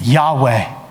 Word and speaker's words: Yahweh: name is I am the best way that people know how to pronounce it is Yahweh in the Hebrew and the interesting thing